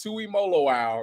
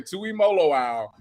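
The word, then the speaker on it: Tuimoloau: no he's not no as long as you've ever seen listen JT Tui molo owl make sure you pronounce this last day Tui molo owl is the best that's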